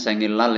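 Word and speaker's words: 생일날: Kronde tetapi sengil bacanya sengilal ini ya, n ketemu atau didahului real seperti ini dibaca sengilal ya.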